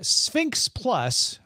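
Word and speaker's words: SPHINCS+: of space and then sphinx plus but it's spelled s p h i n c s plus is larger and slower than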